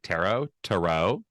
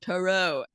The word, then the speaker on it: tarot: And I was like, it doesn't rhyme with carrots.